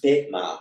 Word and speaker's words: Pema: in Tibetan, the ad is pronounced as an e, so pema or pema.